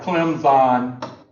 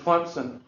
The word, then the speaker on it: Clemson: Since ESPN started coming to Clemson, they pronounce it Clemson because they don't want to pronounce the P, because all the toothless rednecks around here, we pronounce the P, Clemson, So they don't want to be associated with us, so they go Clemson.